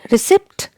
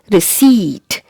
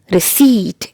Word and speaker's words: receipt: do you pronounce it receipt receipt both are incorrect the correct mensation is receipt receipt it's not received or received letter p is silent here remember so it is